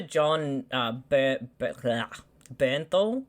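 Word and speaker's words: Jon Bernthal: i really i i feel like next to john bernthal is how you say his name yeah yeah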